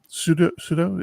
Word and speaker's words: sudo: Who doesn't know sudo, right? Sudo?